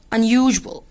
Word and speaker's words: unusual: Some homes are unusual. Unusual. Unusual الاسم عليه هنا تنطق ج ج.